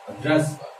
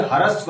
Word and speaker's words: ह्रस्व: एक होता है ह्रस्व। क्या होता है? बोल के बताओ मेरे सामने। हाँ मुझसे मेरे साथ बोलो। ह्रस्व, इसे हरस्व लोग बोल देते हैं, गलत है।